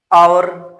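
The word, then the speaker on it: hour: तो एच वाला होता है लगभग इनमें एच साइलेंट रहता है। आवर।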